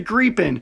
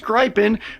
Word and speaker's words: Gripen: I am once again Kyle and today we are talking all about the Grien which is not pronounced gripen which is how I had been pronouncing it because I had only ever read about it.